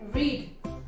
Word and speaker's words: read: रीड। रीड का third form क्या होता है? रीड, रेड, रेड। और स्पेलिंग सेम ही होती है रेड की भी, है ना।